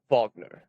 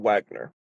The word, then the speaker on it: Wagner: his critique of Richard Bogner. That's the German pronunciation, but in English it's Richard Wagner.